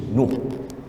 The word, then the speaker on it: Nuh: The Ark of Nuh. ARC ya? Betul ya? Orang putih ARC ya? The Ark of Nuh. N-O-H. Nuh. Orang Melayu dia ikut ejaan tu Nuh.